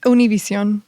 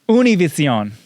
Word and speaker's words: Univision: You had a radio show on Univision. I did. Am I saying it right? Univision. Univision. Can I say Univision?